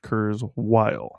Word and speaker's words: Kurzweil: yep so well let's take a look Raymond kurile if any of you need to look him up his last name is k r z we i l it is pronounced kurile is this one of the guys who um